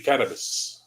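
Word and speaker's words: Cerberus: It's like when you hear people saying Cerebus, Greek would be Carabus, right?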